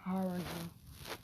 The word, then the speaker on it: Haruno: If Haruno or Haruno. Either one comes it's Haruno. Haruno. You have to say it like that. Got R in it. Haru. And no, with a Ru in it. Haruno.